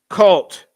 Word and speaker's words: CVLT: According to the indictment, they were members of a cult, pronounced cult, CVLT, an online group espousing neo-Nazism, nihilism, and pedophilia as its core principles.